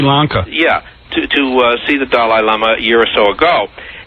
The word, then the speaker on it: Dalai Lama: Is that how you say it, Dalai? I thought it was Dolly. Dolly. No, Dalai. No, it's Dalai Lama.